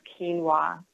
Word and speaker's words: quinoa: But my favorite grain that I eat all the time is quinoa. And it's an ancient grain. It's spelled Q-U-I, N as in Nancy, O-A.